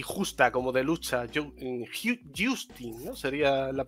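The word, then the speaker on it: Jousting: lo conocéis genital y justa como de lucha Justin sería la pronunciación Justin Bueno este juego dejadme que os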